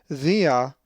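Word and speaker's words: διά: If you said thea, you are correct because the accent is over the alpha.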